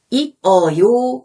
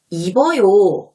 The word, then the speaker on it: 입어요: 받침 뒤에 모음이 있으면 이 받침과 모음을 결합해서 발음하는 것을 말해요. 예를 들어 옷을 입어요. 자, 이 문장을 읽을 때 옷을 이라고 발음하지 않고 옷을 이라고 발음하고 입어요 라고 읽지 않고 입어요 라고 발음하는 거예요.